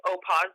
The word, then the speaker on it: Opawz: I only use Opaz dye, and it's spelled Opawz.